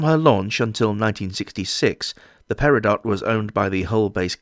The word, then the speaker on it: Peridot: Straight off the bat, I know that it's supposed to be pronounced Peridot, but the people of Hull say Peridot, and so that's how she will be referred to in this video.